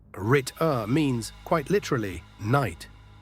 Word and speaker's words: Ritter: Rit-uh, short and clean. Rit-uh means quite literally knight.